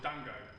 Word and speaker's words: Django: my character is called Dango you know the J is silent you know Dan go away like don't go enough said that's